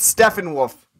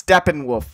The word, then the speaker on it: Steppenwolf: can correct my pronunciation every time you said Stefan wolf it's Steppenwolf whatever you know what